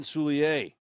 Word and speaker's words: Soulier: forward there is been Soulier the French pronunciation as he says because he's from New Orleans and he follows the